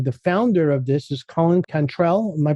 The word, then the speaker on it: Colin Cantrell: The founder of this is Colin Cantrell. Am I pronouncing that right, Colin? Yeah, Colin Cantrell.